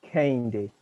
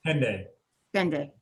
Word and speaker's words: Kihandi: Kihandi, am I pronouncing that right? Candy. I'm sorry? It's pronounced Candy. Candy. Yes. Kende.